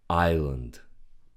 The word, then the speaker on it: island: Island. The S is silent. We don't read it.